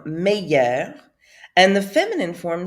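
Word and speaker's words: meilleur: going to say so that's how it's pronounced in the masculine form meyer and the feminine form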